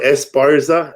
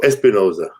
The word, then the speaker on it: Esparza: I'm like, no, my name, it's spelled Esparza. It's always spelled Esparza, but people are like, they just see it go Espinoza or Esperanza. That's it. I always get those two, but I never get Esparza right away.